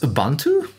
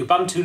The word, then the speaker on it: Ubuntu: It's pronounced Ubuntu? Man, another thing that I mispronounce. I say Ubuntu. Ubuntu, okay.